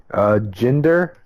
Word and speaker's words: Jinder: Jinder. So it's like Hinder with a J, and Mahal, M-A-H.